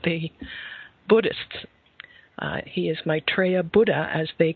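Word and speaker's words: Maitreya: world scene and at their head the Lord mitraa let me spell that for you m AI t r e y a uh and the Lord mitraa uh is actually the one awaited the expected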